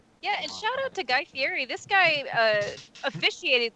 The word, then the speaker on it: Guy Fieri: be it's guy fieri not guy fieri it's guy fieri i don't pronounce most things correctly so this may also